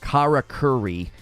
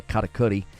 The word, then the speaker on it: karakuri: power of the karakori the Kara Curry is how most people are probably going to be saying it but I believe it's pronounced the katakuri you're supposed to kind of bounce off the r's it's almost like syncopated gotta Cody sounds awesome